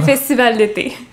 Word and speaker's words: Festival d'été: The Festival d'été.